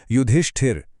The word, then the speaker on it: युधिष्ठिर: जरा इसके उच्चारण पर गौर कीजिए। युधिष्ठिर। ष्ट के बाद एक हल्की इ की आवाज है। इसलिए यहां छोटी इ की मात्रा ही सही है।